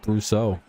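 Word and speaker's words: Brosseau: You don't have to pronounce it all French like. It's just Brousseau.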